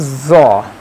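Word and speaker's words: ظ: Zo is bold, and its place of pronunciation is this, that the front corner of tongue will be between the two teeth, like it will come out of toward the lip side, and this will be bold, like zo, zo, zo, zo.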